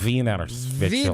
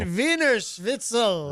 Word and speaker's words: Wiener Schnitzel: But, I said it wrong. I'm sorry. Yeah, V, not W. Yeah. Wiener Schnitzel. Wiener Schnitzel or something.